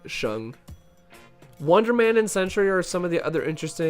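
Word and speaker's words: Shang: Um, it's it's just pronounced like Shung.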